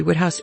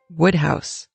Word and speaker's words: Wodehouse: I learned about PG woodhouse is that his name is actually pronounced PG wood house it looks like Wodehouse it isn't it's wood house there are lots of